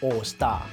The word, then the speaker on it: Aoostar: It's pronounced "Allstar."